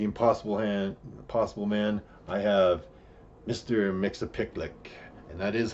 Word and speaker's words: Mxyzptlk: Mxyzptlk, and that is how you say it, I promise.